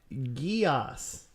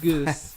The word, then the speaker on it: Geass: got the MPR voice final episode of code geass not goose final not geese no no the pronunciation yes they finally said